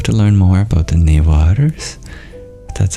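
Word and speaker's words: Newar: though I'll have to learn more about the neers that's how you pronounce it but you've seen one and attended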